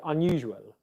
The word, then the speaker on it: unusual: jana is the um in the word unusual so what do we need to know it's a is a short english vowel sound and the tongue is fairly low down in the mouth okay what's happening is the highest point of the tongue in the uh sound is between the center and the back of your mouth it's not a front vowel sound like ah look at